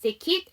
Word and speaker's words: ticket: 제가 KET로 끝나는 단어의 이 사운드는 발음이 이 발음 난다고 했어요. 그래서 ticket.